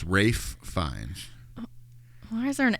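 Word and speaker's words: Ralph Fiennes: most people but it's Rafe fines why is there an L there it's it's spelled like Ralph but it's pronounced Rafe and uh him and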